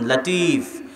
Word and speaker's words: লতিফ: লাতিফ। আব্দুল লতিফ। আপনাদের মধ্যে নাম আছে। অনেকের আছে। এই লতিফ শব্দটার সঠিক উচ্চারণ হচ্ছে লাতিফ।